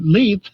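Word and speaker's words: Leith: with a p uh leth is from the gelic meaning wet leth is also a part of the city of of Edinburg Scotland so there you go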